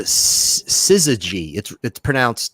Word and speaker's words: syzygy: It's a syzygy. It's spelled Syzygy, and she was the syzygy.